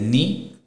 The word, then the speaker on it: knee: With K, the knee is KNE, we just pronounce it as KEE, that is knee.